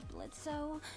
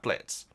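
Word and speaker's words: Blitzø: I will say, this confuses me, guys, because I've always thought that Blitz was spelt with an O because he says the O is silent, much like Django and Jane.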